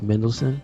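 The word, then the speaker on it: Mendelsohn: Oh, you know, his name is spelled in such a way that you don't realize it's very simple. It's Mendelssohn.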